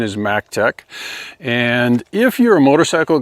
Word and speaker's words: Maectech: So, two things just quickly before we get into the drive test, and that is proper company pronunciation is Mac Tech.